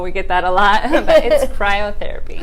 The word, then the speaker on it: cryotherapy: with ice lounge Kyle cryotherapy uh-huh forget I pronounced it wrong yeah I know it's okay everybody Kairo we get that a lot cryotherapy cryotherapy yeah so Jackie can you start off by